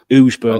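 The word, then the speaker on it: Ouseburn: What is it? Ouse. Yeah, Ooseburn.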